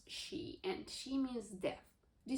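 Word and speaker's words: 四: Because the number 4 is sometimes pronounced as she, and she means death.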